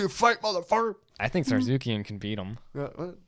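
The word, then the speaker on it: Tsarukyan: But Sarzukian, right? Yeah. He's like... He's a silent T. Yeah, I thought that was funny. I'd be pissed. I think I'm ready to fight, motherfucker. I think Sarzukian can beat him.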